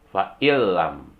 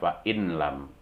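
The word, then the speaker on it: فَإِن لَّمْ: Misalnya nun mati ketemu la, dibaca fa'ilam, tidak boleh dibaca fa'inlam. Masukkan bunyi nun matinya ke la menjadi fa'ilam.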